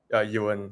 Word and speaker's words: Ewan: Ewan. Yeah. Ewan. Okay, like the United Nations.